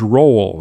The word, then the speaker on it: roll: It's not roll, it's roll. It's almost like a 2-syllable word, Tom.